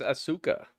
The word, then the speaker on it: Asuka: It's Asuka. The way everybody used to pronounce her name before they found out.